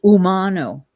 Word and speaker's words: Umano: My name is pronounced Umano, Umano.